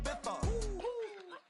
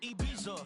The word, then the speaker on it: Ibiza: I just went to Spain, that's a bitha. Ibiza. Yeah, it's pronounced Ibiza, actually. What's the difference, man? Ibiza, Ibiza, you won't see me in neither.